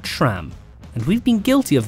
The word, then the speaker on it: SRAM: our first video that sram is an often mispronounced name for the record it's sram not sram and we've been guilty